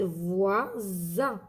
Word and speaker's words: voisin: Regardez, il y a une voyelle avant, une voyelle après. Ça veut dire Z, voisin. D'accord?